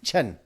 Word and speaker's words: Chen: It's pronounced like Chin, but Chen like that.